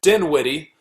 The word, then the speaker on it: Dinwiddie: Dinwiddie.